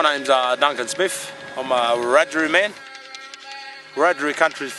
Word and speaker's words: Wiradjuri: We call it Wiradjuri now, but that's how non-Indigenous people can pronounce it, see. But in our language we call it Wiradjuri, which means having and know.